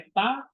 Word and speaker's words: eta: Tapi di di Yunani ee eta itu bacanya bukan e tapi e panjang e e e epil e e itu agak panjang maka transitinya e terus